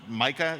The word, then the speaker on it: MiCA: All right, and then Simon, you touched on MICA. Is that the correct pronunciation? Yes.